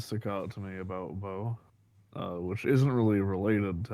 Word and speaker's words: Bo: picked is a batter, Bob Naylor, for the Cleveland It's Guardians. pronounced Bo, by the way. Oh, Bo Naylor. I don't know why I said Bob.